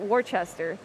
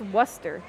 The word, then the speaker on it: Worcester: on stream before, but there's this way of pronouncing the name of the place we are in right now, where it looks like it's spelled Worcester, or Worcester. Worcester. But it's pronounced Worcester.